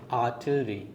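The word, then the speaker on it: artillery: आर्टिलरी guys, इसे pronounce करने के लिए आपको आर पहले यूज़ करना है, फिर टिलरी यूज़ करना है. आर्टिलरी.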